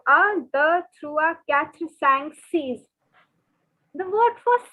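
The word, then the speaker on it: six: So the pronunciation is not 6, but the pronunciation is seize. Seize. Okay, it's not 6, it is seize. Like seize the moment, seize the opportunity, seize. So the through a catch sang seize.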